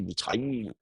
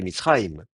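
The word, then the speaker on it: מצרים: Alors évidemment, nous, on a envie de prononcer Mitzrayim avec un i en insistant sur le i, Mitzrayim. Mais le i, en plus, il n'a pas l'accent, c'est Mitzrayim.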